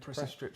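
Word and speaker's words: PreciStrip: Well, it's very similar to was it the Pressy Strip? Yeah. 16, yeah. Is that how you say it, David? Pressy Strip 16.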